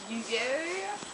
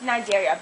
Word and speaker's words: Cnidaria: Nidaria? Actually, Shirley, it's pronounced Nidaria, but good try anyways.